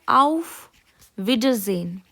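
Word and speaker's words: Auf Wiedersehen: जेड की आवाज आ रही है। क्यों आ रही है? क्योंकि एस को हम जर्मनी में थोड़ा जेड की तरह प्रोनाउंस करते हैं।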